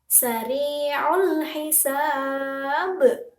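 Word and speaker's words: سريع الحساب: Huruf ba tersebut berada di akhir kalimat dan dibaca mati karena wakof. Maka, cara membacanya yaitu dengan pantulan yang kuat. Kita ulang bareng-bareng. Sari'ul hisab.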